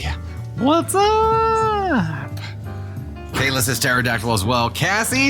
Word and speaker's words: pterodactyl: or hailing with the pterodactyl that's right we pronounced the P here pterodactyl Kaden Thunder has the